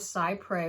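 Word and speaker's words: cy pres: for children so the doctrine of psy pray which is spelt c y and then p r e s two separate words the doctrine of psy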